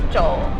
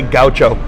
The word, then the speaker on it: Gaucho: staff, as do we, the proper pronunciation in Portuguese is Gaucho, which means someone from the southern plains in Brazil, the grasslands where they raise cattle.